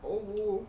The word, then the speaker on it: Owu: For the Owu waterfall, is it pronounced Owu or which one? Owu.